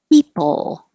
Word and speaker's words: people: People. Remember, don't round your lips for the L. For a really good L, keep your lips people.